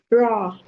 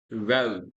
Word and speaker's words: raw: word again for me raw no it's not a it's O ro ro yes write wrote written